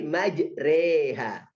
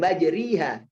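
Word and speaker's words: مجريها: Ketika baca majre jadi majriha. Enggak kan? Tapi majreha. Bukan majriha.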